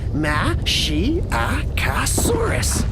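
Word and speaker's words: Masiakasaurus: You say it like this, Mashiacosaurus.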